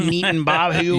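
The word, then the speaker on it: Netanyahu: BB Neaton Bahu.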